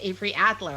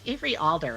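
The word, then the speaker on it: Avery Alder: there you go and i think i said avery adler at the beginning of this it's every alder everybody so so if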